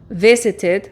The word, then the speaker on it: visited: Al final, esto ocurre cuando el verbo termina o en la letra T o en la letra D. Cuando ocurre esto, no puedo ni pronunciarlo ni como T ni como D, sino que debo pronunciar id.